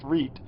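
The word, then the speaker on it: REIT: reap and it's how it's how it's pronounced read and that's what it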